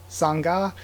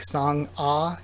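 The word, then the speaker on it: Sangah: that means that um Sangha I again I really don't know exactly how to um uh pronounce it um somebody in the comments said it should be like song ah instead of Sangha um so I guess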